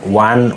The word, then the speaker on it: won: win, and you know win, won, won, not win, own, own.